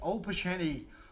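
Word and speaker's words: Opolchenie: And four of the Opolsheny, that's how you say it, the Russian militia.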